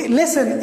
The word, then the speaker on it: listen: listen, LISTEN, listen. Okay. और इसी तरह ये साइलेंट होता है लाइक क्रिसमस में क्रिसमस.